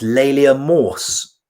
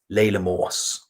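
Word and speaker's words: Laila Morse: It's Layla Morse. Is Layla Morse? Layla Morse.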